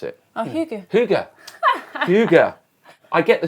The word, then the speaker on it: hygge: Hugger. Hooker. Hugger. How do you pronounce it? Oh, Hygge.